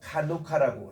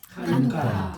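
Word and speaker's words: חנוכה: 요거는 이제 그 히브리 말로 카누카라고 그렇게 얘기합니다. 카누카. 우리 한번 따라할까요? 카누카. 하누카. 예, 우리 말로는 하누카라고 이렇게 번역하는데 요게 이제 키읔 발음이 있어요. 카누카, 약간 키읔 발음으로 하누카.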